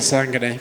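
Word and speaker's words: Kasanganay: Impa, I don't know how to pronounce his last name. Kisangane.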